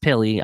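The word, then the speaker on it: Pili: right that is that is nose tackle Brandon pilly and yes it is pronounced pilly I confirmed Vic fangio made it clear last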